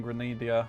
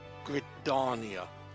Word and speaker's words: Gridania: Minome, your counterpart in Grenada. Good luck, lass. That's where we're going. We're going to Hippie Town. It's pronounced Gridania. Like Gridonia.